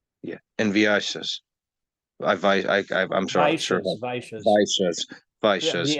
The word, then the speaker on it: Vaishya: Vaishyas, Vaishyas.